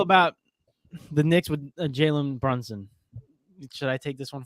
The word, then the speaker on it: Brunson: i'm sorry but that you butchered the name so badly though bronzong it's brunson b-r-u-n-s-o-n but i had